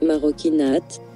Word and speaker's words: marocchinate: Maroquinate, maroquinate, maroquinate, maroquinate, prononcé maroquinate, en italien pour « les actes des Marocains